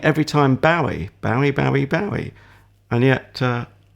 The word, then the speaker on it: Bowie: It's officially Bowie, but actually the man himself, maybe partly because it wasn't his name anyway, it's an assumed name.